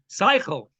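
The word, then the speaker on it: שכל: And as Johnny points out, the root of that word, Sechel. Okay? Or if you're more of a Yiddish pronunciation, Seichel. Seichel.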